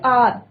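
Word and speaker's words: hour: जैसे आर, एच ओ यू आर, तो एच यहाँ पे साइलेंट है.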